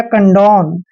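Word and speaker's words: condone: न लिखते हैं इस तरह से हो जाएगा कंडन कंडन मीस होता है दोस्तों माफ करना प्लीज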